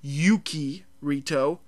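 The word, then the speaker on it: Yuuki Rito: pronounce that that's simple I know you're supposed to draw out the U that's why there's a second U Yuki reto uh which by the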